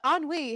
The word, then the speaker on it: ennui: I can't pronounce this word. Is it ennui? Yes. Okay, but ennui has set in.